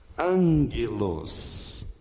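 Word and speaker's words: ἄγγελος: Note que o primeiro G, gama, tem som do N anasalado. Então, você vai transliterar dessa forma. Angelos. O acento é aqui e esse E é fechado.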